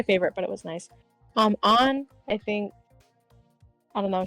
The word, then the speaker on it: Ann: I know a lot of people like On, and I do like On. I just think her confidants are kind of boring. Why is her name On? It's just so weird. It's spelled like Anne.